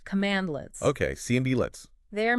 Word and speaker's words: cmdlet: a bunch of commands called CMD lits it's pronounced command lits okay CMD lits they are made specifically for